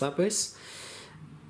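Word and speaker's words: Eryri: And the third day we went to the beautiful mountains of Snowdonia, or Labris, I think it's pronounced Labris, in North Wales.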